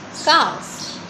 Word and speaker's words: calf: CALF, calf. The word L is silent, so we pronounce it as calf.